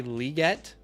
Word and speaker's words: Legette: keep hearing people say liette I've always been saying Legette what about you guys I keep hearing people say liette though I'm wondering if I'm starting to say it wrong or something and there